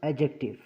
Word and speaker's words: adjective: इसको हम प्रोनाउंस कर एडजेक्टिव इसमें जो डी होता है उसको साइलेंट रखा जाता है प्रोनाउंस करते वक्त तो हम इसको एडजेक्टिव नहीं बल्कि एडजेक्टिव प्रोनाउंस करते हैं अब एडजेक्टिव होता क्या